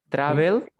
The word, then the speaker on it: travel: Travel, travel, la fuerza de voz está al inicio.